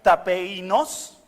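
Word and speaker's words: ταπεινός: La palabra en griego se pronuncia tapeinos, es una palabra que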